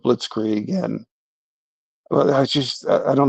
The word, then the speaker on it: Blitzkrieg: You know, Candace Owen is pronouncing things like blitz egg instead of blitzkrieg.